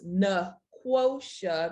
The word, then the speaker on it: Nequosha: is that is pronounced na quotia the same q sound as in quote say it with me